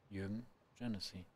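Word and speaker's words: Jürgen Jenisy: How shall I pronunciate his name? You just did it. Jürgen Jenisi.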